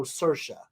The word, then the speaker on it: Saoirse: while ago, I know Saoirse. But even then, I'm sure I say that wrong. What's funny is Saoirse rhymes with inertia, right?